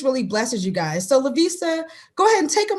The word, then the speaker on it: La'Vista: um so with that i am lavista and if you remember asta lavista you will say my name right every single time i promise um and like